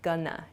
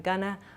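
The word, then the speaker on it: gonna: both of these Expressions going to shortens to Gana g o n n a Gana I'm Gana I'm not GNA this sounds much more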